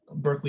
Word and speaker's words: Berkeley: Berkeley, who I'm just pronouncing the UK because Justin's here, and that was original pronunciation.